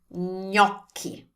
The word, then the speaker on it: gnocchi: But with the GN, I understand this can be very difficult and frustrating because the way we pronounce ñ in Italian is pretty different from other languages. So this is how we pronounce it in Italian. Gnocchi, gnocchi. And if you have difficulties